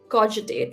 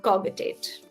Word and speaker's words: cogitate: But the only thing is cog is g and cogitate is j. So the right way to pronounce this is cogitate, not cogitate.